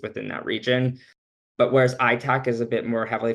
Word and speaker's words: ITAC: So the Indigenous Tourism Association of Canada, which is ITAC, you'll hear me say ITAC. It's less syllables and vowels, but it's a nonprofit organization.